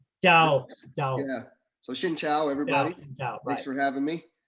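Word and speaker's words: xin chào: me see in vietnamese the right way to say hello is shin chao yeah so shin chao everybody thanks for having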